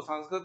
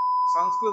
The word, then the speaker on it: संस्कृत: अभी स के ऊपर अनुस्वार है तो उसका नासिका में उच्चारण होगा संग, फिर आधा स है इसलिए संस, और फिर क है संस कृत कृत कृत कृत।